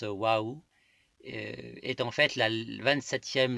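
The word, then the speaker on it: واو: d'encre noire leurs larmes la lettre whaou qui s'écrit whw qui se prononce whaou est en fait la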